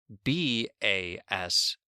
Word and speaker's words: bass: B-A-S-E is pronounced as base, but B-A-S-S is sometimes pronounced as base, but other times pronounced as bass.